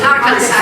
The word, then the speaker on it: Arkansas: Alabama, places like that, Arkansas, or how we pronounce it, Arkansas, yes.